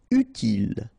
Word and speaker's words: utile: Utile, final E not pronounced, so utile.